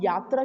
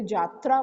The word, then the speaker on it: जात्रा: Of communication में type, जिसको हम यात्रा की जगह जात्रा बोलते हैं, वहाँ पर प्रोनाउंसिएशन जे है वाई की जगह, वो भी है।